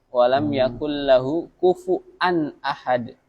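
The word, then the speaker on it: كُفُؤًا: walam yakul lahu kufu'an ahad. Bukan pakai wa, tapi pakai hamzah.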